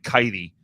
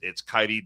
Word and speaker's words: Kaity: It looks like her name is Katie, spelled like Kaity, but it's pronounced like Heidi, so it's like Kaity, and she's got on her X feed. It's Kaity, Defender of the Republic.